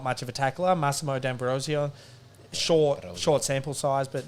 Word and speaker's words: D'Ambrosio: hines probably not much of a tackler massimo d'ambrosio short short sample size but not m knew any tackles that was my other feedback from last week you guys kept saying d ambrosio come on your heart's italian dambrosio it's just